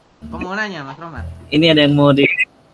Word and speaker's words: Rohmat: Ya kan, berarti kalau misalnya Rohmat ya, real dulu nih. Ya. Berarti tinggal ditambahin real. Cuman H-nya itu tidak dibaca nanti ya, Mas Rohmat.